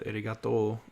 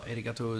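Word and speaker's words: ありがとう: the second part uh when a kana with an o sound is followed by an u the o sound gets elongated so the end of eregato is just a long toe sound when you add two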